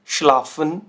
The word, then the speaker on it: schlafen: तो देखिए एस से हा, एस से हा और एस से हा साउंड क्या कर रहा है, श, राइट।